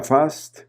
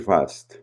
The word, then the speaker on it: Fast: Y yo siempre decía Fast con acento británico, pero decidí que él estaba en su derecho a escoger cómo se debe de pronunciar su nombre. Así que, siguiéndole la corriente, le empecé a decir Fast.